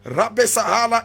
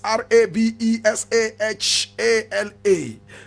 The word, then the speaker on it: Rabesahala: Rabesahala is Rabesahala.